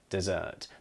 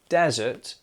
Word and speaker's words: dessert: Now, remember that this is spelt with 2 S's and it's dessert. Not desert, which is that large, open, sandy space where you might walk for miles and miles and you're hot and you need some water. That's desert. But this, what we have for the meal after our dinner, it's dessert. The stress on the second syllable, dessert.